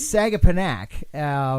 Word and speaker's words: Sagaponack: So there's a difference in pronunciation. It's Sagaponack.